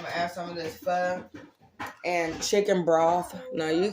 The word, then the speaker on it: pho: It's pronounced, it look like pho, it's pho.